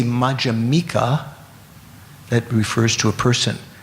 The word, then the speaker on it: Madhyamika: the second syllable, Madhyamaka, Madhyamika. You put the emphasis on the M for the person who is adhering to the Madhyamaka philosophy.